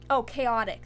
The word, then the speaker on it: Kaotik: Chaotic. That's how it's pronounced. Okay. But in my Discord, Kaotik, Kaotik.